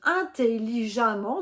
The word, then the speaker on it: intelligemment: et cela te donne intelligemment donc tu as écrit e de T mais tu prononces bien a 2m NT attention donc à la